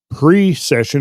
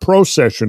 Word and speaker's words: precession: the same signs however pre-session it's important pre-session not procession of the equinoxes because procession in the